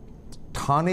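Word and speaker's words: Thane: থানে actually উচ্চারণ হচ্ছে থানে, ঠয়াকার নয়কা।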